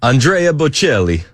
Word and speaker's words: Andrea Bocelli: So what I'm trying to do is see if Chris shanks the pronunciations as well. Andrea Bocelli.